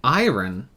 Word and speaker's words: iron: it tastes like IR iron iron you don't pronounce the r um it doesn't taste